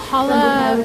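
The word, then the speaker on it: challah: I think that's how you pronounce it. C H A L L A H.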